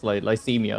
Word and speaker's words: Lycemia: And then Lyra will look towards Lycemia, is how we pronounce my name, right?